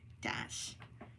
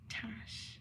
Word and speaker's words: Tash: Dash. I have to like say that for the first part that you said it's pronounced Tash.